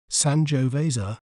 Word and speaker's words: Sangiovese: c s j while in American accent we may pronounce it as sanjo Vasa sanjo Vasa San Jo vza sanjo Vasa you can check out